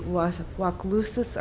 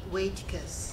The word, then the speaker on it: Waitkus: And I'm sorry, is it Waclusis or whatever your name is? Oh, it's Waitkus. Waitkus, okay. 2 syllables.